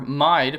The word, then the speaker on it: Mide: However, Mide... Yeah, I know it's pronounced mid or mead or whatever, but I'm calling him Mide because I don't like the way those other pronunciations sound.